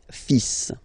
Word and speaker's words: fils: Okay, so it's le, and then even if you've got this L, well, basically you don't pronounce it, and then strangely you pronounce the final S. le fils, le fils, le fils, le fils.